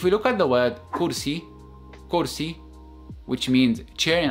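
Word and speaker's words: كرسي: actual word if we look at the word Kursi Kursi which means chair in Arabic notice how we pronounce the letter Kev in this word so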